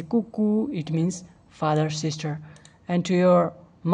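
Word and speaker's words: 姑姑: Here G in Chinese it is pronounced as ke. So you can say kuku.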